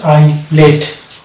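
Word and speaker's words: islet: অনুরূপভাবে এটা হচ্ছে এইল, এটা উচ্চারণ হচ্ছে এইল, এস বাঁধে যাচ্ছে এবং শব্দটা উচ্চারণ হচ্ছে এইল। তারপর হচ্ছে এটা আইল এবং এটা হচ্ছে আইলেট, অর্থাৎ আই এস এল যদি থাকছে তাহলে এস কিন্তু আমরা এস কে সাইলেন্ট পাচ্ছি।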